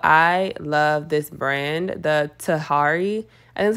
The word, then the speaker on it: Tahari: nice as well I love this brand the Tahari and that's how you say it um love